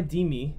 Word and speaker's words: Dimi: He says, Rabbi Dimi, I like how Dimi rhymes with Shimi.